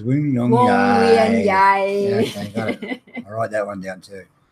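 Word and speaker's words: Wongwian Yai: It's Wong Wien Yai.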